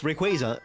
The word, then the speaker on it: Rayquaza: I'm incorrect like for example uh Rayquaza it's Rayquaza 100% and it makes sense people are annoying like but it's a quazar so like but like Rayquaza is so annoying when people like oh it's